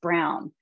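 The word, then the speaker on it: Braun: i just recently learned that brawn is actually pronounced brown but i'm still reprogramming myself these products just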